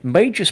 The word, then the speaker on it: Magos: Oh, Magos, but I didn't like that one because it's pronounced weirdly. Magus, but it's spelt Magos.